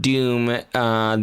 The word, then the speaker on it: Dhoom: And I'm saying the word Dhoom. The word is spelled D-H-O-O-M. That's right.